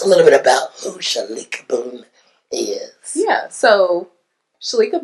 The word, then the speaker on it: Shaleka: Now, I'm going to say it wrong, because I've been saying Shakitha, but it's Shaleka.